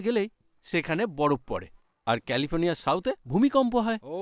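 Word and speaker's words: California: sorry sorry sorry sorry ক্যালিফোর্নিয়া সি এ এল আই সি দিয়ে শুরু হয় কিন্তু উচ্চারণের সময় ক হয়ে যায় তাই কালিফোর্নিয়া বলে না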